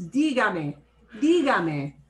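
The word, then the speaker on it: dígame: ends in a vowel normally we stress second to the last syllable but the way i pronounce this word is digami which means i am violating my pronunciation violates breaks the rule i need to write in the accent tell me please and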